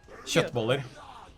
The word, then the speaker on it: köttbullar: it's a kjotboller? Köttbullar. Kjotboller? Köttbullar. Kjotboller? Okay. Exactly. Yep.